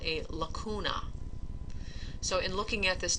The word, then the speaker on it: lacuna: So lacuna with a hard C means cavity.